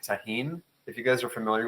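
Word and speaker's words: Tajín: If you were going to do this particular cocktail, I would do something fun like taheen.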